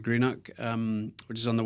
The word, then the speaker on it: Greenock: HomeTown back in Scotland so I'll let you pronounce it well uh I grew up in a town called Greeno um which is on the west coast of